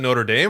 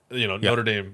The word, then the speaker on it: Notre Dame: But my thing is, if you're speaking English, you almost kind of take the English pronunciation of things. So like for me, like Notre Dame, right? It's like the Notre Dame football team, right? Like the people who formed it in Notre Dame, Notre Dame football. So I pronounce it Notre Dame. If I'm speaking French, then I say Notre Dame.